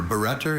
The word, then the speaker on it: barretter: Barretter is the only pronunciation for this noun.